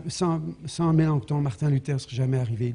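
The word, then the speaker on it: Melanchthon: S'il vous plaît, quand vous le prononcez, n'oubliez jamais de mettre le thon bizarre. Ouais. Mélenchon, c'est pas trop ce qu'on veut. Non, c'est Mélancton hein.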